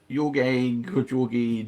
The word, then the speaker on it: Yorg: Yorgi George. I'm assuming you mean me. There you go. Yeah, Steve. Who's this? This is Yorg, despite many pronunciations to the contrary.